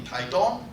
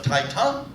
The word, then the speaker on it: Taitung: And I said, I love Taiwan, and I hate to give foreigners the wrong pronunciation, because they get off the train in Taidong, and they tell the local people, I love your town of Taitung. And the Daidang Lang say, huh?